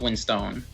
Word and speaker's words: Winstone: Yes, I believe it's pronounced Winstone. Okay.